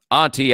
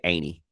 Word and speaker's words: Auntie: I mean, Auntie, I think in this discussion is how you say it, but I grew up around people who say Aintee.